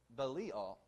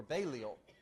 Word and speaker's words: Belial: And he says this, "What accord has Christ with Belial?" Or Belial is how I pronounced it before I understood the correct pronunciation. Belial.